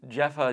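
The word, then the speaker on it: Jaafar: a bio pick um Jaffa Jackson I think that's how he pronounced his name Jermaine's son is playing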